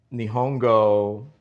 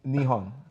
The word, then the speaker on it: Nihon: Uh nihongo uh what is that?